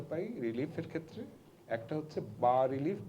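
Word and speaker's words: bas-relief: এস উচ্চারণ হবে না, বা রিলিফ মানে লো রিলিফ।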